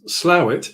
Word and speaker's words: Slough: Yeah, you did that, and you pronounced Slough properly.